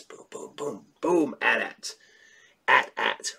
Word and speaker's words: AT-AT: AT-AT. Rhymes with hat, hat.